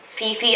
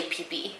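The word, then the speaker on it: Phi Phi: tomorrow we're going on a tour of the fifi islands it's actually PPE Islands the pH just pronounced like a P so we're going on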